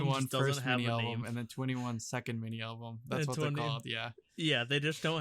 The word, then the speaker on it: 2NE1: it's spelled to anyone it's pronounced 21 like the number yeah the album has